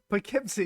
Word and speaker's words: Poughkeepsie: Poughkeepsie, yeah.